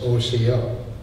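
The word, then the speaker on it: Osiyo: giving me this opportunity my shirt says Oco which means hello and that's exactly how it's pronounced o c o originally the Cherokees did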